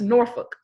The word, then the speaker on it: Norfolk: No, it's Norfolk. Norfolk. They ain't no U in there.